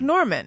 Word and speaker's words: Normand: asked you oh yeah it's pronounced like norman yeah but it's just got a d tacked on the end it's french so it's